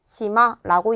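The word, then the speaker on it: 島: 섬을 시마라고 읽는구나 체크해 주시고요.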